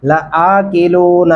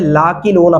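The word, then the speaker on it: لآكلون: अय्युहद्दल्लूनल मुकज़्ज़िबून लआकिलून मिन शजरिन मिन ज़क़्क़ूम। यहाँ पे भी मैंने अक्सर एक गलती देखी है, लाकिलूना पढ़ा जाता है, लाकिलूना पढ़ना बिल्कुल बड़ी गलती है, इसको ऐसे नहीं पढ़ सकते।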